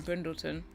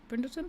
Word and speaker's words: Brindleton: it's now miserable in brindleton brindleton it's not printed it's not brendelson Bay yeah I was